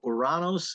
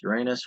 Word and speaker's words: Uranus: in Sagittarius try to uranos in Aries Uranus or however you want to pronounce it a try is an